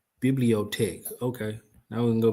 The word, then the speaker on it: Bibliothèque: I need to, how you pronounce them? How do you pronounce it? Pronunciation. Let me get that first. There you go. Bibliotech.